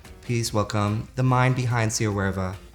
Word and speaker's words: SIYAWAREVA: Is it SIYAWAREVA? Almost SIYAWAREVA. Whatever. Yes, the R's gotta roll.